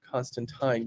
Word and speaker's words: Constantine: happen to be wondering whether it's Constantine or Constantine I think John made it pretty clear as per the creator of the character originally it is indeed Constantine you